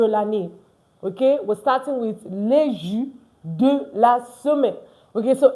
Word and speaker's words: les jours: Les jours. Les jours. Not les jours. No. The S, if you know this, they are not pronounced. I'm not pronouncing the S.